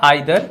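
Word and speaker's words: either: First वाला जो है आइदर, इसको ईदर भी आप प्रोनाउंस कर सकते हैं। ईदर या आइदर दोनों सही होता है।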